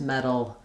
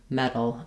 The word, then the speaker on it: meddle: Same phenomenon that's happening here in these words, meddle, meddle, and meddle. And you can see good examples of how we spell it. So sometimes T-A-L or D-A-L, sometimes D-D-L-E, also sometimes T-T-L-E, as in little. That's that same combination of the flap plus the syllabic L.